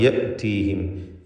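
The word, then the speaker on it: يأتيهم: ഹംസയെ കടുപ്പിച്ച് പറയണം. യഅ്തീഹിം. യഅ്തീഹിം എന്ന് തെറ്റായി പലരും പറയാറുണ്ട്. അത് സൂക്ഷിക്കേണ്ടതാണ്. മാ യഅ്തീഹിം.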